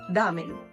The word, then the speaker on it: ramen: pero justamente es porque esta r de esta letra es como cora son el tip para practicarlo es si les cuesta trabajo no pronunciarlo como doble r al inicio pueden poner una palabra como esta antes de pronunciar ejemplo en vez de decir ramen digan coren corazón jamen y ya después le quitan la Co y ya van a pronunciar como japoneses damen en cuanto a la